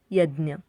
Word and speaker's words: यज्ञ: फ से फर्क, ब से बकरी, भ से भविष्य, म से मसाला, य से यज्ञ। ध्यान से सुनिए, इसे हिंदी में हम यज्ञ कहते हैं, लेकिन मराठी में ज्ञ का प्रोनाउंसिएशन ज्ञ ऐसे होता है।